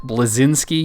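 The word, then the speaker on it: Bleszinski: moogle go ahead you butchered the saying of his last name but it's cliff blezinski you didn't know who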